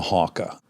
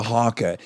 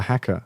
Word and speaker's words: haka: Is it pronounced haka? What do you say it as? The Haka? Yeah, I always thought the hacker. That's an English American thing, I think.